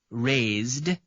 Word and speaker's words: raised: conjugated as follows raise raised raised r a i s e d no extra syllable raise raised raised you have to fit that D sound in but not adding an extra syllable the verb to rise